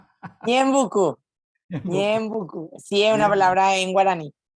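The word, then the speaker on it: Ñeembucú: ¿Pronuncié bien Ñembecú? Ñembucú, Ñembecú, Ñembucú.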